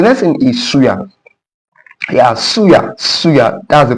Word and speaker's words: suya: Suya Suya that's the pronunciation Suya.